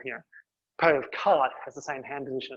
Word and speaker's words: quarte: look at um the parries of cart not caught um it's either spell to pronounce um cart and there are phonetic